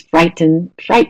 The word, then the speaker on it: frighten: There's frighten, which is a verb, which is stressed on the first one.